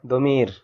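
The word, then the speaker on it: ضمير: দদ মিম ইয়া র দমির তো এটা আমাদের দেশে প্রচলিত আছে একটা গলত মাসর যে দদকে জ উচ্চারণ করা এটা নিয়ে অনেকের সাথে অনেক ইয়া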